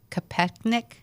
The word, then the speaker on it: Kopechne: And so he was talking with another young lady, Mary Jo Kopechne, I think is how you say her last name.